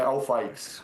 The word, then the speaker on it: Alfaix: Qual é a pronúncia correta, então? Eu que faço a pergunta. É Alfaix. Alfaix, então acertei.